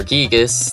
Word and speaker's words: Giygas: by the cosmic destroyer gigas that's that's the right way to pronounce it and you can't convince me otherwise and a prophecy that